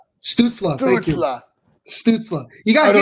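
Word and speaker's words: Stützle: I keep saying his name wrong. Stutzla.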